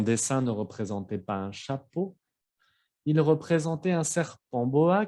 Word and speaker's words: chapeau: Como la letra O, por ejemplo, en la palabra chapeau, chapeau, ¿ok?